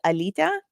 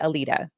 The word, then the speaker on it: Alita: background um so um in Lithuanian it's pronounced Alita but in like for for non- Lithuanian speakers um I I say Alita so like not a pint but Alita uh it's a it's